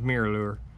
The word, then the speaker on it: Miralure: It's spelled MIRALURE, and now it's spelled like it sounds, mirror lure.